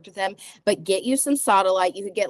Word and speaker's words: sodalite: want you to get a crystal called sodalite, or sodalite. Some people pronounce it Sodolite.